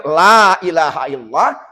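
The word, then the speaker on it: لا إله إلا الله: Allah sudah berapa artinya kalau dibacanya Lailahaillallah tidak ada Tuhan kecuali Allah tapi kalau bacanya ilahaillallah demi ada Tuhan selain daripada Allah Oleh karena itu mari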